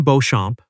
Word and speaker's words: Beauchamp: Wynn Beauchamp, pronounced like the French.